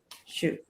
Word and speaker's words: Xi: So another thing they're saying is that he's been in talking with Sue. He's been communicating back and forth with Sue. Shu. How do you say it? Shu or Sue? Shu.